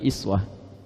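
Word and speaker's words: أسوة: Tahu dari mana uswah? Kalau Anda main ke sebagian negara di Timur Tengah, mereka bacanya iswah.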